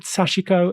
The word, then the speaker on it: Sachiko: some of its key ideas I'm delighted that sashiko is joining us today from Frankfurt Germany sashiko